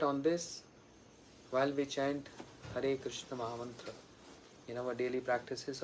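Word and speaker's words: Hare Krishna: Krishna har har Krishna not har Kisha because many devotees they just ch that's not proper pronunciation or they chant Hur cash hurry cash cash cash hurry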